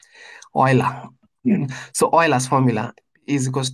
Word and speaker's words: Euler: So the oil's formula or ula if you are African like me you will just pronounce it as ula but anyway the correct pronunciation is oiler he was a there was German German guy oiler so oil's formula is